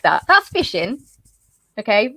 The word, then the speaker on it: phishing: Because it phonetically sounds like I'm going to have a really good time out on the pond. But it's spelled Phishing.